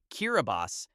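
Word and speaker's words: Kiribati: The country of Kiraabati which is pronounced Kiraabas in the Micronian Gilbert language is an archipelago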